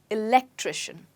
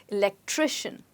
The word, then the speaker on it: electrician: fix the fused light where's the stress well i told you at the beginning of the of this lesson that the stress with the words that end in shun is right before it electrician wonderful now moving on